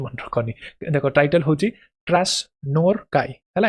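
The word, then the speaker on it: Krasznahorkai: तो हंगारियन author Laslo title मन रखनी देखो टाइटल होची Krasnorkai हला ए जेडनटा येटा साइलेंट रहे Krasnorkai Laszlo Krasnorkai wins Nobel Prize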